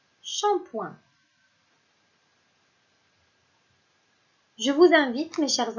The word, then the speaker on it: shampoing: Et enfin, si je prends la lettre P encore une fois, et je lui rajoute le son ouin qui s'écrit O-I-N, j'obtiens la syllabe point, comme le mot shampoing.